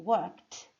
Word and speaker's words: worked: Quando eu digo worked, é uma sílaba só, um som só. Worked.